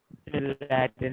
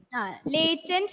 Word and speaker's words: Latent: Latin learning. Latent learning. It's pronounced like that.